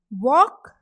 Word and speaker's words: walk: There is no sound of L. L is silent.